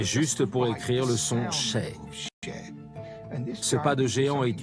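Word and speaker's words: še: Le mot orge en sumérien se prononce sheh. Donc un sumérien voit cela et dit « Ah, sheh, orge ».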